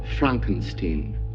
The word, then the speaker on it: Frankenstein: the real monster Dr Frankenstein or Frankenstein it's pronounced Frankenstein yes the titles do refer to the doctor